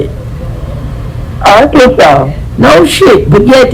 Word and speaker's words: Arkansas: I don't see a r a n a w, you know, Arkansas. I see a s or Kansas. So, what is the proper way to say it? Arkansas.